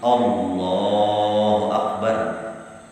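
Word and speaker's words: الله أكبر: Allahu akbar bertambah waw. Atau Allahu akbar. Nah, kelebihan Allahu akbar. Atau Allahnya panjangnya salah.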